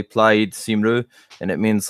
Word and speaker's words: Plaid Cymru: The thing is pronounced, if I remember correctly, Plaid Cymru, and it means like Welsh party essentially.